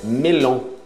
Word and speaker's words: melon: Melon. Melon. Cuidado, isso não é o tio no final, é O-N. Melon.